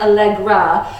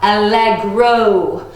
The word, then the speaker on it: allegro: you sound so smart not like allegra or alexa but allegro okay can you all